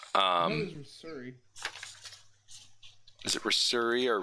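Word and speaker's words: Risuri: Is it Rasuri or Rasurin? It's I have the pronunciation got up. It's Reser, and Reser rhymes with Fleecer, and Rasuri rhymes with Missouri.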